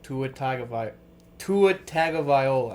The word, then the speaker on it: Tagovailoa: We're kind of switching sports here, but funny enough, the Dolphins quarterback Tua Tagovailoa.